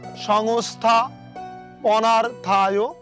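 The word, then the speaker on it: সংস্থাপনার্থায়: বিনাশায় চ দুষ্কৃতাম ধর্ম সংস্থা পনার্থায় সম্ভাবমি যোগে যোগে। লক্ষ্য করুন, এই শ্লোকটি আমাদের সকলেরই পরিচিত, তবুও আমরা দুইটি উচ্চারণ একটু পরিষ্কার হয়ে নিব। সংস্থা পুনার্থায়, সংস্থা পুনার্থায়, সংস্থা পুনার্থায় অন্তস্থর সাথে অ থাকে, এই জন্য আমরা বলতেছি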